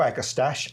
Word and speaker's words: agastache: Well, some people say agastaches, I say agastache.